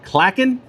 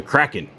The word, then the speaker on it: Klaken: name, and it's like it's pronounced two different ways, even though it's not spelt that way. But you can call it the Klaken or the Kraken.